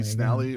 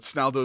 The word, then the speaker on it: Snaldo: Most people, they'll end up calling me Snally, or they'll just call me by my real first name, which is. So it doesn't matter to me. But Snaldo is the correct pronunciation.